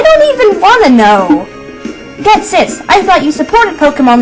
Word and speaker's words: Ghetsis: Ghetsis. That's how you pronounce the name.